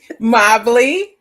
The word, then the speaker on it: Mobley: God, I'm getting ready to do her last name wrong again. Say it again. Mobley.